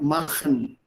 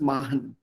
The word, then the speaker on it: machen: And machen for him was always mahan. Mahan. Raha. So the ch would not be audible. Suchen. Suchen. Suchen. And that ch is not there at all.